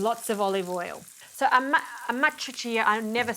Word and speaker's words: Amatriciana: So amatriciana, I never say it right, Giorgio. Amatriciana. Amatriciana is Amatriciana because it's coming from a town called Matrice.